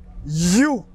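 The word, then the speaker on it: HU: H, U, et lui prononcer You.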